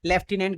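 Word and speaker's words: lieutenant: कि सर ये आदेश दिया था लेफ्टिनेंट गवर्नर ने। ये याद कर लेना, लेफ्टिनेंट गवर्नर, लेफ्टिनेंट गवर्नर। और ये लेफ्टिनेंट की स्पेलिंग याद कर लेना बेटा, है ना, LIEU,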